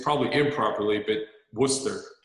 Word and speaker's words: Worcester: I think basically a lot of these towns, just like Worcester, how you pronounce it properly? I always get it wrong. Well, it's probably improperly, but Worcester. Worcester, that's right.